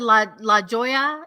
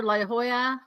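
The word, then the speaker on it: La Jolla: So, you said La Joya. Is that how you say? La Hoya.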